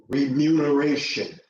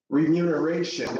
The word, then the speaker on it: remuneration: Remuneration is often misspelled and misstated, misquoted as remuneration, because you see numer, which is comparable to numbers, to recount the numbers, but the proper definition, the proper how do you properly pronounce that word? It's remuneration.